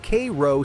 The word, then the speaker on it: Cairo: Cairo pronounced Kro sits right where the Mississippi and Ohio rivers meet.